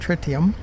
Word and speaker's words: tritium: five percent less tritium as the frontier says it should be pronounced tritium it will go over